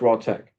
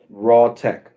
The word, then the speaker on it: RawTech: Raw Tech. Oh, fine, okay. Yeah, like Monday Night Raw. Like Monday Night Raw, like that. Spelled the same way. Raw. RAW, and then the word tech, all one word.